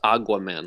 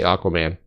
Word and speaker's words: Aquaman: Or is it pronounced Aguaman? Like Agua. Aguaman. No, that's... No, this is America. We say Aquaman.